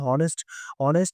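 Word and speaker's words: honest: Our country needs many হনেস্ট worker. এখানে এইস টা আমাদের কি থাকবে? সাইলেন্ট থাকবে।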